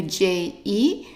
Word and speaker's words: je: And remember, E, that when it's attached to only one letter or one sound, it's pronounced as an E. So the first word here would be pronounced, try it, je, je.